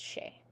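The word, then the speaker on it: sí: S followed by I or E is sh, right? That S is pronounced sh. And that E with the fada over it, oro she. That word is pronounced she.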